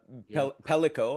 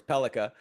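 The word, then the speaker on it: Pellikka: You know, you talk about, you know, Sandine Pelico. I have to say it, try and say it right. Of course, Pelica. Sandine Pelica.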